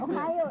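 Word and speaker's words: おはよう: japanese right oh sure ohio is like good morning in japanese really well i speak a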